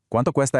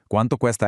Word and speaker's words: Cuánto cuesta: ¿Cuánto cuesta esto? Listen carefully to the really crisp, hard C sounds at the beginning of those first two words. ¿Cuánto cuesta esto?